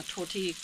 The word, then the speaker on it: tortilla: it tor tortilla and I know it's not pronounced that way it's tortilla it's just for fun same thing with the